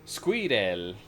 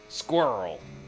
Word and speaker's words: squirrel: So, uh, they would do they would say squidel. That's fun. And I'd have to tell them like, "All right, it's one syllable, guys. Let's do it. Squirrel."